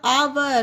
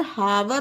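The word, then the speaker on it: hour: ओ यू आर आवर अब देखिए यहां पर आवर पढ़ा गया है यहां पर हावर नहीं पढ़ा गया है है ना देखिए तो अगर आप यहां पर हावर पढ़ देंगे तो यह गलत हो जाएगा इसे हावर नहीं पढ़ना है इसे पढ़ना है आवर मींस घंटा है ना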